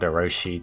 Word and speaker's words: Oroshi: and aoshi plus 2003 no I did not mispronounce Orochi it's actually called oroshi 2003 there are 10 total